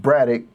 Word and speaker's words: Braddock: And his last name is pronounced Braddock, like a UCK sound. And I'm like, oh, okay, that makes sense. So then I started saying Braddock, and I can't remember,